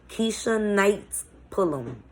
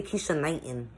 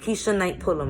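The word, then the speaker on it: Keshia Knight Pulliam: I can never say her name straight. Keisha Knight Pullum. I always say Keisha Knighton. I don't know why I say that. But Keisha Knight Pullum, right?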